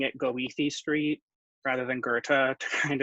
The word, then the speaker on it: Goethe: started pronounced people know how Bertha's spelled it's goe th EE I think some people started pronouncing it Goethe Street rather than Goethe kind of like D